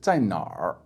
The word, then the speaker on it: 在哪儿: So for example, where in Chinese is 在哪里, 在哪里, but it's very commonly pronounced like this, 在哪儿, 在哪儿, with just the R sound.